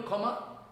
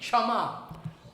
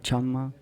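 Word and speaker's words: ক্ষমা: Kama, you know kama? Kama means excuse. But we should speak chama. Oder Chama.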